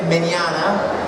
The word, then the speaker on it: Mignogna: my name is Vic minana if you see it spelled don't get scared it's got a lot of letters in it that you're not supposed to pronounce it's Italiano but like lasagna Balon get it and